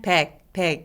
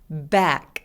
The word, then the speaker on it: back: 그래서 세지 않게 그냥 back 이게 아니라 back 라고 과장되게 소리 내는 게 중요합니다.